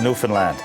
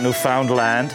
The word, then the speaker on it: Newfoundland: It's pronounced Newfoundland, not Newfoundland or Newfoundland.